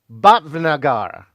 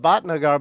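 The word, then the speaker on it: Bhatnagar: This is the way that she told me, too, is that it's spelled Sri Dab Batnagar, but is not BH. It's actually BV if you say it correctly.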